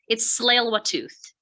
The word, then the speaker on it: Tsleil-Waututh: When you do the territorial land acknowledgement, it's Tsleil-Waututh. Okay, thank you very much for the pronunciation.